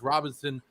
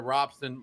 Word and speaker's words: Robson: I can already tell how you and Alex Robinson, or Robson, I said Robinson. Pronounce it right.